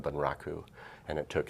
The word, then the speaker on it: bunraku: I worked in a Japanese puppet style called bunraku, and it took 3 puppets, or 3 puppeteers to operate 1 puppet.